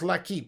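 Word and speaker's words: L'Équipe: It's pronounced L'Equipe.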